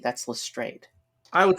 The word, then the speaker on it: Lestrade: I mean, his name is Lestrade. That's Lestrade.